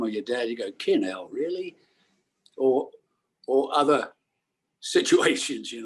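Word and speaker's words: 'Kin 'Ell: It is, I'll spell it, apostrophe KIN apostrophe ELL, two separate words. Kinell.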